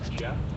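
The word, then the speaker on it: Geoff: spelling of my name the first name is Jeff it's spelled g e o f f the last name is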